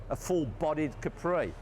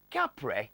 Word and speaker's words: Capri: seen to be Capri what's that Capri Capri well that was the way we were all meant to pronounce it but of course it never turned out that way and when the car first came out and their management with Rania used to term Capri rather than Capri had a more exotic